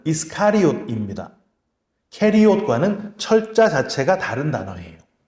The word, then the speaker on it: 이스카리옷: 학자들 중에 가룟이라는 말이 캐리옷이라고 하는 유대 남부 지역에 있는 동네다라고 주장하는 분들이 있지만 가룟의 원래 발음은 이스카리옷입니다.